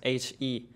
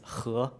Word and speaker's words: He: my family name is H E tesam have a very different pronunciation in Chinese the pronunciation is who not he and I'm a senior at on Google and my teacher is mr.